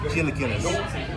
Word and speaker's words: chilaquiles: It's pronounced chilaquiles.